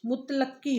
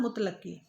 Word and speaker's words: मुतलक्की: इसका शुद्ध उच्चारण मुतलक्की होता है। उसका शुद्ध उच्चारण क्या होता है? मुतलक्की, जिसका अर्थ होता है